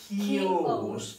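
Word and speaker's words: chaos: Well, the spelling is what? Chavos, but the pronunciation is kios.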